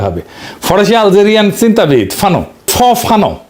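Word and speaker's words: Fanon: ফানো নাম আসল উচ্চারণটা।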